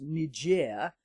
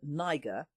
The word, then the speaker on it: Niger: in Africa, which even the BBC now pronounce Niger instead of Niger, which isn't so far removed from nigger.